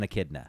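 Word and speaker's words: echidna: Do you mean an akidna? Is that how you pronounce it, dude? Knuckles is an akidna.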